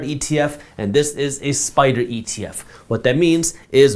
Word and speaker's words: SPDR: By the way, just so you know, Spider is spelled SPDR.